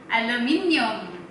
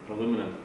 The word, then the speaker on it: aluminum: I know, my potassium pronunciation is not good. Okay. Aluminium. Aluminum.